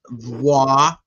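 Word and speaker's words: voir dire: So the word voadier is pronounced voier and they do it with v w a r d e e d.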